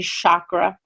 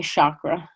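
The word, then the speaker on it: चक्र: so I don't want anyone to say chakra with this sh sound or you know there's some other pet peeves of mine bare minimum just don't graduate same chakra oh I asked so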